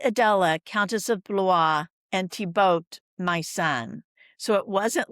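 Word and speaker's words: Thibaut: And they would sign charters mother and son speak jointly I Adella countess of blah and tiboat my son.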